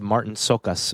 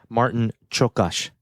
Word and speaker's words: Martin Csokas: Now her husband, Luis, was played by, now I learned how to pronounce this one today. I always said Martin Csokas, but it's Martin Csokas.